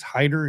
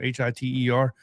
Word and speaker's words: Hyder: Savion, I believe it's Hyder is how you say his name, Hiter.